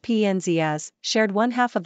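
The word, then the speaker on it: Penzias: his son David said Dr penus pronounced pnz as shared one half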